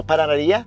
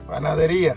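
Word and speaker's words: panadería: We order bread from their uh how do you say micro paranaria? Huh? Mikro paranaria. Panadaria.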